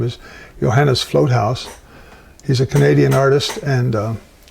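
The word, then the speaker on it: Vloothuis: last name is not spelled the way it's pronounced. It's Float House.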